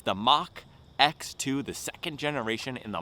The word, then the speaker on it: Mach: today in the title No silliness with the pronunciation it's the mock X2 the second generation in the mock X line